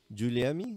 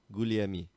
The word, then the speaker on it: Guglielmi: Luca Guglielmi. Did I pronounce that right? Giuliemi? No, there's no I. Guglielmi.